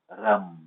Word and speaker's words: Ram: frequência vibracional dele é Ram né em sânscrito a letra R se pronuncia ra e não ra né é Ram tá E ele tá associado